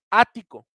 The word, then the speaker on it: ático: Las palabras esdrújulas son las palabras que tienen su sílaba tónica en la antepenúltima sílaba, antepenúltima, ¿ok? Ático.